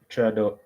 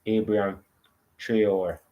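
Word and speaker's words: Traoré: my feature is Abraham Trador, Trador, Traor. There's no D in his last name, so I'm gonna keep on a massacre the man name. But it's Abraham Traor.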